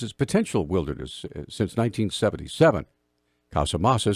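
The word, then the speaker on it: Casamassa: Forest Service associate deputy chief Glenn come Casa masa Casa masa there we go that's how it's pronounced justified yesterday before the Senate Energy and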